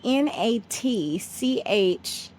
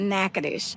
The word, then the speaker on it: Natchitoches: So Natchitoches is Natchitoches. Okay. So you're in Louisiana, so it doesn't translate, but that's what it's called. It's called Natchitoches.